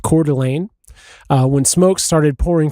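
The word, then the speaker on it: Coeur d'Alene: um on uh Canfield Mountain just north of uh I think it's pronounced Cordelane uh when smoke started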